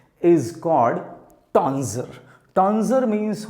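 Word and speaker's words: tonsure: टॉन्जर, this is टॉन्सर या टॉन्जर। टॉन्स्योर नहीं बोलिएगा, दिस इज टॉन्जर और टॉन्सर, ज और सा जो भी आपको सूटेबल लगे।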